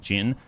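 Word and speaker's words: Djinn: The D is silent, pronounced Jin.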